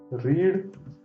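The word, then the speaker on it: read: रीड, करा बरं ह्या दुसऱ्या रेडचा उच्चार. नाही, त्याचा रेड असा उच्चार होतो. रीडचा पास्ट टेन्स स्पेलिंग सेम आहे, परंतु त्याचं प्रोनाउन्सिएशन वेगळं आहे, रेड.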